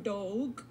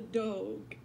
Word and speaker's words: Dogue: When I think about the different people who were indigenous to Virginia who were here, quite frequently I hear the term Dogue, which is spelled D-O-G-U-E or D-O-E-G.